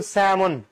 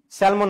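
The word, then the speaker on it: salmon: এটা কিন্তু স্যামন। স্যালমন না। স্যামন।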